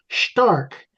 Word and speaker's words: Stark: Well, the name is spelled S T A R K, but it's pronounced Stark. Correct. that? Uh it's a German pronunciation.